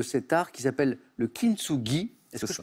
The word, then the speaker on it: kintsugi: On va parler de cet art qui s'appelle le kintsugi. Est-ce que je prononce bien, Mathias?